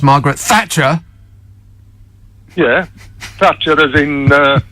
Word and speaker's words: Margaret Thatcher: to Cle the unions I think you pronounced her name wrong it's I think it's pronounced Margaret Thatcher yeah Thatcher is in